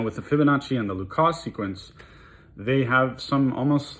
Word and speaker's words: Lucas: L U C A S. Some people refer to it as Lucas or Lucas numbers. Uh the guy was French, so I'm pretty sure it's pronounced Luca, but whatever.